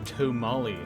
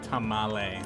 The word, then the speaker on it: tamale: gladly explain and note that's to molly not tamale that's a totally different word a burrito it